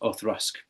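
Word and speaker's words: Auchroisk: Space Egg, but um, as far as I'm aware, it's pronounced Orusk.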